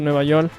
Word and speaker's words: Nueva York: That's how they pronounce it, Nueva York.